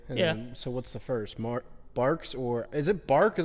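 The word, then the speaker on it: Barq's: Barks or is it Bark? Is that how you pronounce it? Yeah. I don't see why it wouldn't be Barks or what else could it be?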